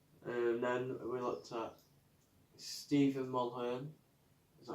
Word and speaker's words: Stephen Mulhern: And then we looked at Stephen Mulhern. Is that how you say it? Yeah, Stephen Mulhern.